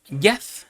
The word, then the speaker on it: yad: Cuando dice me declararé a ti, usa una palabra hebrea que se pronuncia yad. Y-A-D, para los que apuntan.